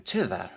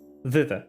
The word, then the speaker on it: thither: but I could find Granny Nightshade in Tither, right? Thither, yes.